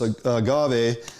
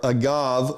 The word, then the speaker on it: agave: as adding additional sweetness, we use this agave or guave or agave or however you want to pronounce it. I talked to multiple people and they say, call it what you want.